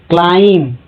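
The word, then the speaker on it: climb: इसलिए बै lump thumb क्लाइम यहां पर बी साइलेंट है।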